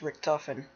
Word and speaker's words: Richtofen: Okay, it's pronounced Richtofen.